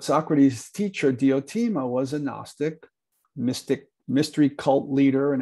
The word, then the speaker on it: gnostic: cult she was a gnostic the g is silent but it's not silent when you put an a in front of it an agnostic is somebody